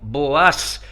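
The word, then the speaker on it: Booz: otro principal protagonista llamado boos algunos pronuncian boas un distinguido caballero judío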